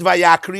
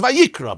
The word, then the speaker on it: Vayikra: The pronunciation could have been vayakri, but if you read it vayakri, it's wrong. Because the pronunciation is vayikra, because it could be read as vayakri.